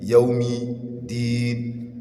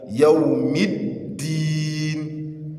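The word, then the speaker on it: يَوْمِ الدِّينِ: You hear them saying, Maliki yawmi din, Maliki yawmi din. Rather, you see them that that mim that is carrying just kisrah, they will elongate it and give it yawmi din. It is wrong. It is not yawmi din, but rather Yawm id-Din.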